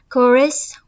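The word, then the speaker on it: chorus: आपका first MCQ है the word कोरस which begins with the letter C एच is pronounced with the के। ये statement आपकी true है। अब वर्ड जो है वो तो आपका सी एच से स्टार्ट हो रहा है। लेकिन प्रोनाउंस प्रोनाउंस जब हम इसे करते हैं प्रोनाउंस में तो वो आपका साउंड के का देगा।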